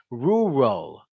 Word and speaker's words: rural: My tongue really isn't doing anything. The shape of my lips is what's making that R sound.